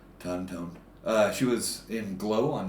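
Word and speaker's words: Tohn: Her name is Jackie Tone. I think I'm pronouncing Tony it Tone? T-O-H-N is her last name. Okay. Tone.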